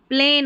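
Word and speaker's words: plane: प्लेन हो गया। क्या हो गया? प्लेन। एन एन पढ़ा। और आखिर में इस तरीके से इ रहता है ना। इसका उच्चारण नहीं होता। ये साइलेंट रहता है।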